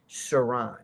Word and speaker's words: Sirhan: Siran Sirhan or Saran Saran which is technically the way to pronounce it was in front of Bobby Kennedy several feet away.